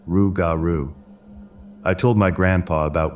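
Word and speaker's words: rougarou: was old Legends of the raru which is pronounced rugaru I told my grandpa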